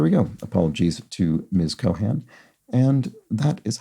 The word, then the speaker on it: Cohan: h as you did it's actually pronounced with an aspirated H and an and rhyming with can so Lauren Cohan um so there we go apologies to Ms Cohan and that is how